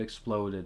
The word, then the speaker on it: exploded: pretty dramatic scene and the word exploded is stressed on a second syllable now let's talk about